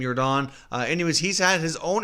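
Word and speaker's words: Jordán: you're Don I don't spelled like Michael Jordan but I believe he pronounced the last name you were Don anyways he's had his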